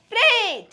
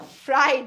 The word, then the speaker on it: freight: this train is a freight it is a freight but it is not a fright fright because fright means to become scared so it is not fright it is Freight it is Freight I